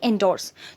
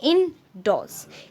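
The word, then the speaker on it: endorse: डॉसिल, इंडोस, इंडोस इसे मैंने काफ़ी बार सुना है, इवन मैं भी पहले ये बोलती थी एंडोर्स, तो ये एंडोर्स नहीं होता है, इन डॉस। इन डॉस जो ई इन है उसको आप इन बोलोगे एंड डॉर्स नहीं होगा क्योंकि आर साइलेंट होता है, तो आपका हो गया डॉस, तो इन डॉस।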